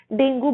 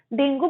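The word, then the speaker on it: dengue: हमारा first disease का नाम है डेंगू बुखार। डेंगू बुखार को हम इंग्लिश में बोलते हैं डेंगी फीवर।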